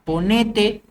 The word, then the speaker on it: ponete: ejemplo ponete al costado la palabra ponete es una palabra llana que termina en vocal por eso no lleva tild decímelo es una esdrújula